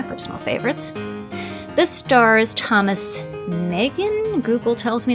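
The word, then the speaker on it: Meighan: This stars Thomas Megan, Google tells me it's pronounced Megan, and Marie Prevost. more excellent cinematography and one of those great examples of hard-hitting precode gangster drama. Megan is the police officer who stands against the gangster bosses.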